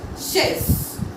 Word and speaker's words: chaise: For example, chaise. Chaise. Here as you can see, CH is together, so we are going to sound it like sh, that is chaise.